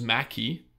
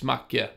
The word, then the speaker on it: Macke: Up next, we have a bit of Macke, which a lot of people pronounce as Mackie. Oh. Yes, and I happen to know that it's Macke because he's a Swedish guy.